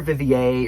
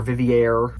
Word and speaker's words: Vivier: Clare Vivier, or Vivier, how it's spelled. She's French.